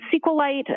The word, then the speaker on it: SQLite: It is capital SQL lowercase T and SQLite uh is also commonly pronounced as SQLite. So both pronunciations are acceptable.